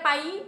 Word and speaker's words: pai: terserah Yang ketiga ada pay pay artinya pergi tulisannya itu p a i bacanya P bukan p tapi p Yi itu pengucapan yang benar pa y artinya pergi yang keempat